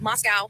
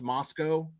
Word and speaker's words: Moscow: However, a place like this does exist in this sleepy college town of Moscow, Idaho.